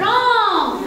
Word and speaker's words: wrong: r w is silent W is silent wrong wrong R right right W